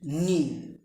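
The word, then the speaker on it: knee: K N double E নি, কে এর পরে মানে খে এর পরে যদি এন থাকে সেই ক্ষেত্রে খে উজ্জ থাকে বা নীরব থাকে অথবা সাইলেন্ট থাকে।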